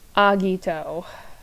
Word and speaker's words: Agito: because it turns out when I listened to the theme song for Agito, they said it, Agito. I still hold by my pronunciation of Kabuto, but Agito, I was wrong.